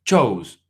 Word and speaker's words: chose: Como pueden ver, se le quita una O y ahora se pronuncia incluso muy distinto. Chose.